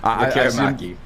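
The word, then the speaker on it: Lekkerimäki: Lekaramaki.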